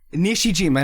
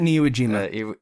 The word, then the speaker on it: Nishijima: Nishijima, not Niwajima. Iwajima. No, not that. Nishijima. Okay. Not Iwo Jima. That's I think that's Vietnam. It's not. Let's not get there. Okay. It's Nishijima.